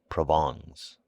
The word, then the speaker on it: Provence: his wife's relatives from provence pronounced provongs he imported officials by